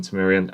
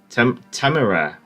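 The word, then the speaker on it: Temeraire: I'll stick with the 406s on Temerian. I don't think you'll have the option, unfortunately, to make less service pens on cruisers and Black DDs even more. And 406. Major Temerian is pronounced Temera.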